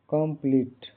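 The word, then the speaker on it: complete: टी ई का उच्चारण कंप्लीट कंप्लीट यहां शुरू कम हल्का कम बोला जाता है पी एल ई का उच्चारण प्ली लंबी इ की तरह होता है आखिर इ साइलेंट होता है कंप्लीट यहां पूर्ण और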